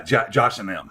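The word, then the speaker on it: Josh & Them: No, yeah, Josh and them. Josh and them. Now, technically, for the scholars and whatnot, it's ampersand and then the word them, but we always pronounce it, like daddy and them.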